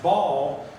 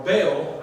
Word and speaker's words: Baal: Other words, let Ball or Baal, I actually prefer Bale, but it's easier to pronounce, but you can pronounce it either way.